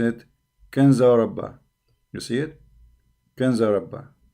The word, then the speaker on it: Ginza Rabba: So here they are pronouncing it Kanza Rabba. You see it? Kanza Rabba. Here in Wikipedia they pronounce it as G. Ginza Rabba.